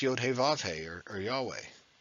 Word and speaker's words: Yahweh: He Vav He or Yahweh. I could be saying it wrong. It could be Yahuwah instead. Jehovah. I mean, it's definitely not Jehovah because that's the Germanized version of it.